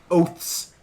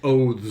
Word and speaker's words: oath: It's kind of like oats, but you hold the T a little bit longer in a softer way.